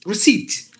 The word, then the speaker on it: receipt: received it is received look at this word you have to pronounce it it's pronounced like this re-seat receipt not received it should